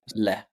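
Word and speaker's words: לְ: Le. It's a preposition. It's a one-letter preposition. The letter is lamed, and pronounced it's le.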